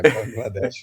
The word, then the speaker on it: Bangladesh: A pronúncia tá certinha. Bangladesh mesmo.